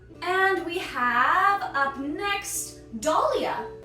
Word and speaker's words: Dahlia: And we have up next Dahlia. Dahlia. You could think of Dolly like the toy or Dolly Parton because we're working 9 to 5 here.